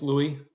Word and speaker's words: Louis: great thank you louis my name is louie my parents are french so that is silent and so louis